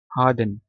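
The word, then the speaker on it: harden: से बताए हैं आपको हार्डन हार्डन में आर साइलेंट जल खून का लोथड़ा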